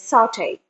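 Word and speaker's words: sauté: word has a french orgy and the correct pronunciation is saute saute the onion in coconut oil until the onion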